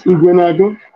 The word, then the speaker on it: Ekweremadu: Is that how it's said? Yes, Ekweremadus. Okay.